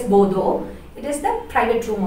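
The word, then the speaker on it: boudoir: It is pronounced as bodo.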